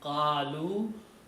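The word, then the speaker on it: قالوا: last time, fa'ala, fa'alu, you add a waw at the end, and an alif, which is not spoken, just it is written with a little circle on it. Okay? So you only sound as qalu. You don't read the alif here.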